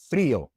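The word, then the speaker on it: frío: And so we put an accent mark above the i. Frio. So this rule makes sure that the word is pronounced with two distinct vowel sounds in two separate syllables as intended.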